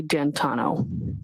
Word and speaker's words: D'Antuono: And when you went outside, you learned that he had come and his friend, is it Ricky D'Antuono? How do you pronounce the name? It's Ricky D'Antano. D'Antano.